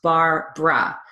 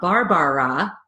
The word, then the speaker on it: Barbara: When pronouncing that name, think of Barbara Streisand. She actually spells her name the way it's pronounced, Barbara. So again, we're reducing an entire syllable. It's not Barbara, it's Barbara.